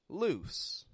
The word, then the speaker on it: loose: lose your mind lose it's not quick like lose l L but it's lose it stretches out in the vowel sound and then it voices that S as a z whereas loose loose is very quick in the vowel and it goes straight into an S loose now this gets